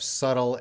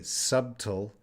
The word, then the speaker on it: subtle: is the word subtle there is a b there but that b is silent we do not say subtle it that b is